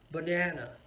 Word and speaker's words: banana: be like this banana so in that word of three syllable can you guess where the stress is i'm gonna say this again banana yes it's on the second syllable all right what about